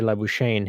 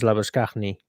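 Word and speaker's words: Labuschagne: not marvelous la bouchain the aussies don't know how to pronounce his name so they say labushain his actual name is lovaskhni uh how do you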